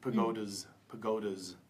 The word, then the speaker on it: pagodas: It should have been a little z there. Pagodas.